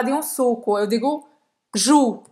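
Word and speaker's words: joue: Jus, como Roberta acaba de mostrar, une jus. Essa Uma parte aqui. bochecha. Bochecha. Une jus. Então, não vai pronunciar o E no final. E o OU, como sempre, tem o som de U.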